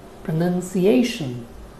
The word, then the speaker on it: pronunciation: a noun form pronunciation you can see that in pronounce as a verb you have n o u n in the spelling and in the word pronunciation it is n-u-n so the spellings are different sounds are different in the verb we have nouns so it is pronouns and in the noun form it is none pronunciation I hope it helps